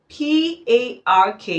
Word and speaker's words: park: P-A-R-K is pronounced park, and P-A-C-K is pronounced pack.